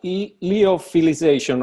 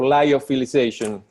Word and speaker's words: lyophilization: Yeah, lyophilization or lyophilization, both pronunciations are correct.